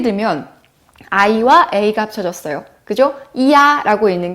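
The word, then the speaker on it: ia: 이야 라고 읽습니다.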